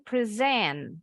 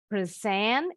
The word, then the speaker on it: present: Next, Aisyah, when holidays approach, ini present, ini present. Nah, ingat tadi Miss bilang kalau penekanan suku kata, syllable stressing-nya ada di suku kata kedua, berarti ini kata kerja. Kalau di awal suku kata pertama ini kata benda.